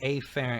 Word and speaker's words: afferent: Sometimes pronounced afferent, but I'm going to say afferent because I'm going to stress that A so we hear it clearly.